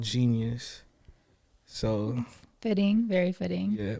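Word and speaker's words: jeen-yuhs: Yeah, but it's like phonetically spelled like JEENIUS. dash U. I mean dash YUHS, like genius, like you know, like how you break a word down.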